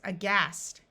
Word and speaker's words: aghast: This word starts with an A, and A often schwas or takes on a muffled sound at the beginning of a word. So this word is aghast.